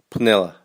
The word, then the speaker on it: Penela: would want to say Piniella a bit like Penelope I suppose but here in local people will say Piniella as though the P and the N are brought together